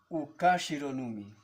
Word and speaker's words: ukashironumi: Por tal razón, a partir de que tenga una palabra 4 o más de 4 sílabas, el acento siempre se marca en la cuarta sílaba, ¿ok? Entonces, esta palabra se pronunciaría ukashironumi, ¿ok?